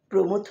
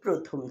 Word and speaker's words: প্রমথ: প্রমথ চৌধুরীকে তুমি বলতে প্রথম চৌধুরী।